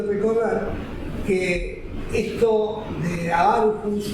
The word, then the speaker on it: Aarhus: tenemos para América Latina, es el convenio de Aarhus, se dice así y se escribe Aarhus 1998, es un convenio también que